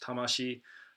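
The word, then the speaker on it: 魂: character for solar spirit it's pronounced tamashii tama it's also perhaps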